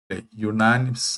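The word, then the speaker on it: unanimous: യാ, യു എന്നാണ്, യുനാനിമസ് എന്നാണ്.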